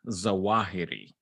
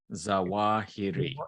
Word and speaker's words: Zawahiri: it uh how is it how do you pronounce his last name uh well his name is uh ayman al zawahiri zawahiri it's dr alzeroth yes that's true doctor ayman